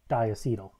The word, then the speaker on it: diacetyl: diacetyl this is pronounced diacetyl why is that um it's because diacetyl is made up of two acetyl moieties and i'll get into